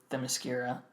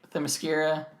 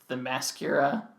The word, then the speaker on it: Themyscira: She's ageless, but I mean, who knows when they went to Themyscira, and I think I'm pronouncing that one right. Themyscira. I know a long time ago I pronounced it Themyscira, like mascara.